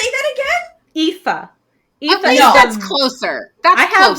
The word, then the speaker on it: Aoife: Offie? Effie? What the? Well, okay, so AI is ass. It's spelled like ash.